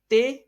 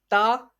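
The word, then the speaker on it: ت: Be, te, se, he, he, toy, loy. So it is according to the Urdu grammar. It is according to the Urdu grammar. So some Pakistani people read as, instead pronounce them in the following way: ba, ta, sa, ha, ho, tho, wo. So it is according to the Arabic grammar.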